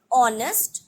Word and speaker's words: honest: an honorable person an honest man here the word honest starts with the letter h but still here h is silent and that's why you